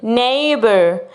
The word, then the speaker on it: neighbor: x good job neighbor neighbor the missing glitter is h good job you have to remember that the gh at the middle is silent okay number two travel